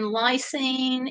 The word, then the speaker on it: lysine: Laura was said Gayle the s in lysine is pronounced with a Z so oh so it's